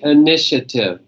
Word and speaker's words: initiative: say that with me initiative initiative amazingly not initiative initiative alright next one is